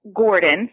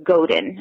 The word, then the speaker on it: Godin: by Seth Godin, so that's Godi, so it's Godin, actually.